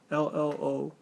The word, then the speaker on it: Trello: Am I pronouncing that right? That's what it is, right? Yeah, I'm pretty sure that's how it's spelled, or that's how it's so said. It's Trello.